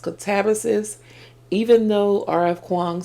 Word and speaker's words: Katabasis: It's not illegal to mispronounce a word but the correct pronunciation is katabis.